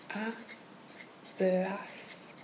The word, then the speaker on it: hablas: it with an S, and then put the emphasis on the last syllable. Mm-hmm. So, to give you an example, with hablar, it would be hablas.